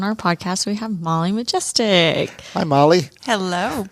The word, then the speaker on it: Majestic: Well, Majestic. You would be shocked at the pronunciations that I've heard.